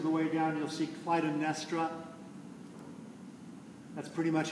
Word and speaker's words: Clytemnestra: We have, if you look in the third column, about 3/4 of the way down, you'll see Clytemnestra. That's pretty much how I'm going to say it, Clytemnestra.